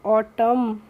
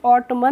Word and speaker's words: autumn: Friends, इसमें जो एन होता है हम उसका प्रोनाउंसिएशन नहीं करते हैं, इसलिए हम इसको पढ़ते हैं ऑटम। जब भी किसी वर्ड में एम के बाद एन आता है तो वहाँ पे भी हम एन का प्रोनाउंसिएशन नहीं करते हैं, उसको हम ऑटमन नहीं पढ़ते हैं। क्या पढ़ते हैं? ऑटम पढ़ते हैं।